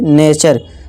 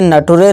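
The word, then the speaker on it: nature: जैसे कि नेचर, इसे नटुरे नहीं नेचर।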